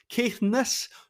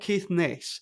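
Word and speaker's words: Caithness: Scottish Mainland and can I just emphasize it's pronounced kiess not kiess I know you would say in veress but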